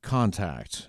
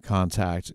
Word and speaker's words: Kontakt: them have what is called Contact and that's spelled funny it's size k o n t a k t